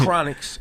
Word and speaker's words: Chronixx: that I promise and his name is chronics and it's spelled like chronic except without to seea on the end there's two x's yeah and then his